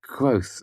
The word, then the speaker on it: Kvothe: Kvothe, Anchor's Inn, University, 2 miles west of Imre. Berenet Baron, Central Commonwealth. It was Denner's handwriting. "It's Kvothe, actually," I said absent-mindedly. "The E is silent."